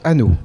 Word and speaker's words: Anost: Hanau, ça se prononce, ça s'écrit Anos et ça se prononce Hanau.